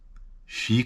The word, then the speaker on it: fii: Fii cu minte. Be good. Fii cu minte. Double I with the fii. But don't be good. Nu fii cu minte. One I.